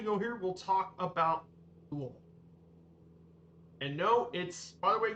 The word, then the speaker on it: Louisville: But I call it Louisville. like many locals. But like I said, the name pronunciation gets quite a few people, as I probably know.